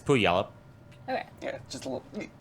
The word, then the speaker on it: Puyallup: But Puyallup is not actually how you pronounce it.